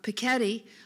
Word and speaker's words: Piketty: to a lecture by the mcaddie I always pronounce it Piketty but I learned at the lecture he pronounces it Paquette ii who wrote capital in the 21st century about